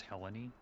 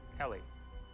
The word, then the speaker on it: Helly: Got the name wrong. Same thing that Helena did to him with his wife. I have to have her back. It's Helly, actually. Helly. It's the person I'm in love with.